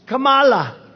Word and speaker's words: Kamala: to interrupt him know my name's kamala like comma i remember that like